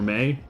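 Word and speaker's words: Mai: You play my or may. What is her name supposed to be? Feel like I used to know. Um. Oh, it's pronounced May, like rhymes with hey Oh, this is like a whole rabbit hole.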